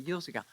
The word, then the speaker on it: Urzika: Pronounced properly, Urzika.